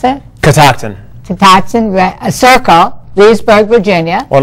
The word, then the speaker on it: Catoctin: 50, how do you pronounce it? Catoctin.